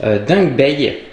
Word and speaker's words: Dangbei: du vidéoprojecteur le mars pro de la marque dingue Bay je crois qu'on prononce comme ça donc on va voir ensemble